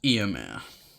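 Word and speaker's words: Éomer: you've just got to love him we've got eomer you man yeah that's how you say it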